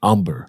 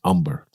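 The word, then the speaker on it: Humber: original name that h-u-m-b-e-r umber um but it's pronounced umber as if there's no h right the h is silent right so and your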